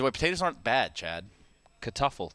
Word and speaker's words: Kartoffel: Kartoffel. That's how you say it in German.